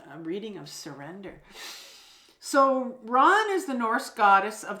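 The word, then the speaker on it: Rán: uh this is the hag of water it's pronounced Ron so Ron is the Norse goddess of the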